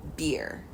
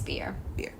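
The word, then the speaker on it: Bier: Susan Beer is how I want to say her name. I think it's Beer.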